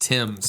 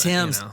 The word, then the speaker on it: Thames: For those crazy British people, it's pronounced Thames. Thames.